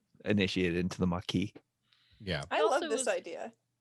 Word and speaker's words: Maquis: It's pronounced Maquis. It's not Maquis. It's Maquis. Maquis. It's the Maquis.